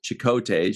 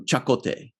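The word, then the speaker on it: Chakotay: be one of those things where janeway called chicote she used to call him chicote and then like in the third season or something there was like a native american guy that visited and and called him chakote or something so then chainway started calling him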